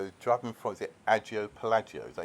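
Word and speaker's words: Agia Pelagia: So, you drove me from the Agio Pelagio, is that how you pronounce it? Agio Pelagio. Agio Pelagio.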